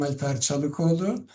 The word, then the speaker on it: Çalikoğlu: And as Anatoly kindly introduced, and very well pronounced my surname, I am Alper Çalikoğlu, and I work as an assistant professor at Nazarbayev University in Kazakhstan.